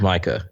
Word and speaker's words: Micah: because his name is Micah clearly but she calls him Mika the whole time and I I feel like I should write them a letter and say just want to let you know you mispronounced this person's name like I know it's your person and you created the character but you're saying it completely wrong um I'm gonna be